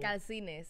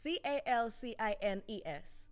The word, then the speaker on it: Calcines: Which is, how do you pronounce your... Calcines. C-A-L-C-I-N-E-S. How do you say it again? Again. Just break it down for me because I'm struggling. Calcines.